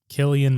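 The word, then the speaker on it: Cillian: Killian. Like the the beer. Usually it's spelled with a K.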